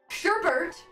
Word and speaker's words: sherbet: Wait a second, the R isn't in the actual word? No! Sherbert, said, like pronounced like that, is spelled Sherbet, and it pisses me off.